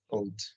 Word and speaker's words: field: So here we are talking about field, ¿cierto? This is the pronunciation. Entonces no pronunciamos la E, solo la I.